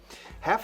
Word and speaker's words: half: Half es la mitad. Fijaos cómo no pronuncio la L, es mudísima aquí. Half. No digáis half, por favor. Half. F muy brusca.